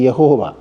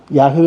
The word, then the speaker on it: യാഹ്വേ: അല്ലെങ്കിൽ യഹോവ എന്നൊക്കെ വിളിച്ചിരുന്നത് യാഹ്വേ എന്നുള്ളതാണ് ഈ മൂന്ന് വാക്കുകളിൽ ഏറ്റവും നല്ല വാക്ക് യാഹ്വേ എന്നുള്ള വാക്ക്. കാരണം അതിന് അതാണ് കൂടുതൽ അർത്ഥവത്തായിട്ടുള്ളതും നല്ല ഉച്ചാരണവും അതാണ്. പിന്നെ എങ്കിലും ചില ആളുകൾ പ്രത്യേകിച്ചും പെന്തക്കോസ്തുകാരൊക്കെ യഹോവ യഹോവ എന്ന് പറയാറുണ്ടെങ്കിലും അതല്ല ആ വാക്കിന്റെ യഥാർത്ഥമായിട്ടുള്ള ഉച്ചാരണം. അത് അല്ല നമുക്ക് പ്രശ്നം അതല്ലല്ലോ